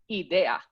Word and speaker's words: idea: word idea in english if you say that word in spanish it's idea and that's quite confusing because the i sounds like the e and the e sounds like the i and it's but once